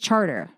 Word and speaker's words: Chartres: Remember we stayed on, you think it's like Chartres Street, and it's just Charter. Yeah. There's like, oh, you're on Charter Street, but it's spelled like Chartres.